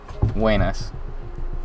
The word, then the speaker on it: buenas: teaching some impromptu spanish real spanish speakers say guenes wayne ass yes the theater cease is important wayne s or you could just spell that w-e-n-a-s i guess anyway i'm